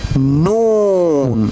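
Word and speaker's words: نون: It is noon. Well done. Very good. It is noon. N sound. Noon. Noon. What is this one? Noon.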